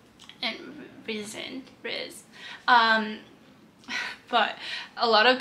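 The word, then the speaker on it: Rhys: to say the name correctly feyre and vision riz um but a lot of the videos actually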